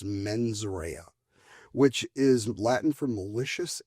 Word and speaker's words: mens rea: And I know my Latin is terrible, but I believe it's pronounced mens rea, which is Latin for malicious intent.